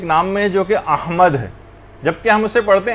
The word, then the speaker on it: احمد: یہ نام آیا ہے۔ یعنی صحیح تلفظ ہے، الف پر زبر ہے، ہا جو ہے وہ ساکن ہے، میم کے اوپر زبر ہے، اور دال جو ہے وہ ساکن، احمد۔ تو بعض اوقات اس